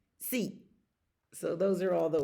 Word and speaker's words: sí: Sí. Sí.